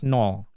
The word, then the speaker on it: nol: So this is pronounced as anol a so if I put it this into syllables a and null a null a nol so this is nol and this one is